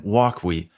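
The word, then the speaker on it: Wokwi: going to have is how do you pronounce this thing what what is the what's the deal with the name well here's the deal the developers were Ewoks you take off the E you got walks so that's walk and then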